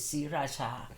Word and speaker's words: Sriracha: So it's "Sriracha."